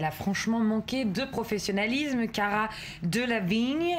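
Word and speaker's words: Cara Delevingne: franchement manqué de professionnalisme Cara de la vigne il faut le prononcer avec l'accent anglais effectivement comme vous l'avez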